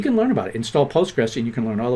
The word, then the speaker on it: PostgreSQL: link just just google postgresql i hate i say have a tough time with that name the proper way to say it is the postgres or postgresql all right but if you